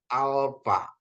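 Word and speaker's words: άλφα: Jadi dia F ya alfa. Kenapa dia dibuat pH? Karena dia mengikuti apa? Dari barat gitu ya. Jadi pH gitu ya. Jadi kalau kita kalau di sana bacanya F ya panta untuk kata panta alfa gitu ya.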